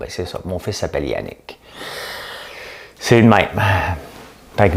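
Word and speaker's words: Janik: Le nom de mon frère, c'est Yannick, mais J-A-N-I-K. Ça se prononce Yannick, parce que mon père avait un trip de dire, il voulait s'obstiner avec le curé.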